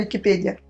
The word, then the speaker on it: Википедия: Википедия или Википедия? Нет, все же правильно Википедия. Я специально искал, как правильно поставить ударение.